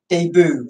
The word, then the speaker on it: debut: Pronounce it properly. It's a French word. It's the English version of the French word.